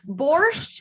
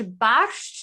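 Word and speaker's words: barszcz: to try boroski so borscht is how you'd say in english bash is how you'd say it in polish very polish is such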